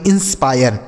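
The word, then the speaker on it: inspire: मेरे भाई ये देखिए इसे इंस्पिरे नहीं पढ़ेंगे इंस्पायर यहां पे जो आई है ना इसका उच्चारण हमें आय करना है आय तो इसे पढ़ेंगे इंस्पायर इंस्पायर मतलब क्या होता है प्रेरित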